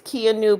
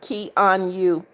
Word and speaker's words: Kanu: It's Kanu. Pronounced Key on you.